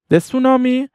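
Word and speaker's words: tsunami: مصیبت میشه یا بلا سونامی وا یعنی خیلی بد افتضاض فارسی هم میگیم سونامی دقت داشته باشید حرف تی که قبل از اس سونامی میاد تلفظ نمیشه سونام وازر اون سونامی مصیبت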